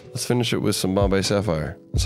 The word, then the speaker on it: Bombay Sapphire: Should we finish it with Sapphire Bombay? I'm down to finish it with the Sapphire Bombay. Let's finish it with some Bombay Sapphire.